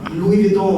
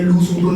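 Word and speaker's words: Louis Vuitton: लग गया कि मतलब भाई लुई विटॉन होता है, लूस वुटन नहीं होता.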